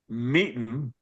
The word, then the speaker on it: MeetN: So um uh I'll say it more slowly. Meeten me tn.